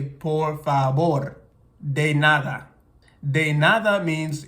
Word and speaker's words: favor: this V but actually in Spanish it has a b pronunciation as you would hear it in English so instead of saying por favor you would say poor fabor de nada de nada